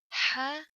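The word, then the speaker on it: ح: students to pronounce it ha comes from the source bit sharp little it's not like hair hair you feel it comes like from chest okay different than hair hair comes from throat and hair if you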